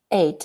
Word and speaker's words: ate: no it's a pear ate and ate the past tense of the word eat is pronounced exactly like the number eight so he feels sick